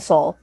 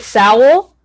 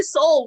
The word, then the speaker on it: Soul: And then original score went to Soul, which was not surprising. Yeah, love that. This is when Tracy Morgan pronounced it Sowell. Oh my god. Like he was like Sowell.